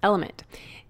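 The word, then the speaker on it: LMNT: our sponsors Ln element it's spelled l MNT but pronounced element if you haven't heard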